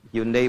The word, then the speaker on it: Hyundai: Hyundai bacanya Hyundai.